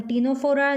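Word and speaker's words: Ctenophora: Then second is phylum Coelenterata, Coelenterata, तो Cnidaria, और phylum टीनोफोरा जिसमें टी साइलेंट है बच्चे।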